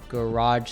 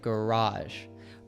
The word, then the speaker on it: garage: which he called UK garage sound. I wanted to point out here that there's a difference between British and American pronunciation when we say this word. So, an American like myself would say garage, but a British person would say garage.